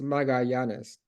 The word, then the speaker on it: Magallanes: No, it's very close. It's Magallanes. Magallanes at Ohio State.